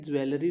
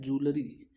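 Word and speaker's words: jewellery: याद रखें ज्वेलरी नहीं है ये, जूलरी, इसका राइट प्रोनाउंसिएशन है जूलरी, मशीनरी, सीनरी, क्रॉकरी।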